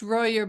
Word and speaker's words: Royer: Oh, it's mostly pronounced Royer, but I have had it be Oh, Royer before, so it's fine.